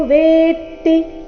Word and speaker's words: ವೇತ್ತಿ: ಅನುಸ್ವಾರ ಉಚ್ಚಾರಣೆ ನಾಸಿಕವ ಯೇನೌ ವೇತಿ ಇಲ್ಲಿ ಗಮನಿಸಬೇಕು ವೇತಿ ಇಲ್ಲ ವೇತಿ ತ ಕ್ಕೆ ತ ದು ಒತ್ತು ವೇತಿ ಹಂತರೈ ಇಲ್ಲಿ ಅನುಸ್ವಾರದ